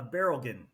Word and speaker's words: Berilgen: your last name uh barl like a barrel of oil and a again so